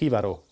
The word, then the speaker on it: Jivaro: love this one Ribeiro do not spell it Triborough or something like that it's Ribeiro it's Spanish it's a film from